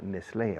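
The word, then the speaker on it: Nestlé: for certain pharmaceutical ah Nestle okay Nestle in English we say Nestle NES tle okay b-a-y-e-r b-a-y-e-r you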